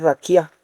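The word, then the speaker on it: רקיע: Pronuncia raquia. Raquia. Es raquía. Raquia.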